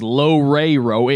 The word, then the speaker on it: Loureiro: Is pronounces Loureiro.